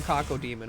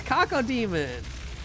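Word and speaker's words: Cacodemon: It's Kako demon. Kaka like poo poo.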